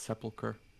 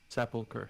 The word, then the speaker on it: sepulcher: constant um pronunciation police i believe it's sepulcher isn't the p first zapulker yeah oh no the p is not first it's after the e i did not see